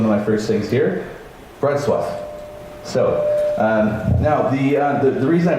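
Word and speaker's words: Wrocław: city sounds like Wroclaw or it should be pronounced Wroclaw right but I've learnt that it's one of my first things here bread swap so now the reason I bring that up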